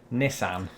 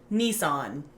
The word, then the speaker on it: Nissan: again not a sponsor nee-san that is the silliest pronunciation is it look it begins with NISS Nissan which you know that's fine too I'm certain that that's the way that somebody in Japan might say I bet it is